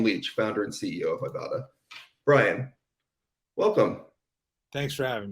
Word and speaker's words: Ibotta: Am I pronouncing Ibotta correctly? Nailed it. Yes, it's a bad pun based on I bought a bag of groceries, for example.